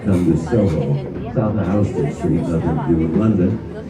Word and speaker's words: Houston Street: comes into it called Houston Street. Soho is south of Houston Street. Houston is spelled exactly like the city in Texas. It's pronounced differently for a reason.